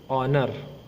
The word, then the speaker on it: honor: It's an honor because H is silent.